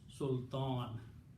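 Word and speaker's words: سلطان: And when you stop, you pronounce sultan. You don't pronounce two kasras.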